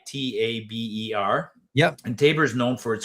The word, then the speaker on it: Taber: There's a town south of us called Tabor, right? Taber.